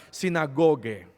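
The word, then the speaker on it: συναγωγή: Es una palabra muy difícil de pronunciar, mucho más difícil para leerla porque está en hebreo, pero la pronunciación es esta: sinagoge.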